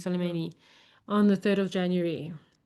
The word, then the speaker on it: Soleimani: of well, how do you pronounce his name? Soleimani. Soleimani, on the 3rd of January.